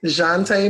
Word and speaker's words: Jantie: Shantay, yes.